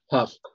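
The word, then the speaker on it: hough: How do you pronounce the word H-O-U-G-H? Huff.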